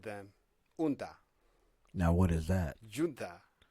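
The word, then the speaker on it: Gunta: They call them unta. Unta. G-U-N-T-A. Unta. Huh. Yeah. Okay. Yeah, I pronounce it junta. Junta. But most of the people unta. Unta. Okay. So, So the correct is unta.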